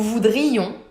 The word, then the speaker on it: voudrions: Nous voudrions, with a clear I, it's really marked.